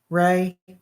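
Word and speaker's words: Rhea: Thank you, Rehea. Is it Ray or Rehea? I don't want to mispronounce. Yeah, Sandy cereal is yummy. Ray. Okay.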